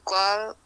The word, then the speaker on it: call: This verb is call. It is not ana. This is like an open a sound. Call. Call.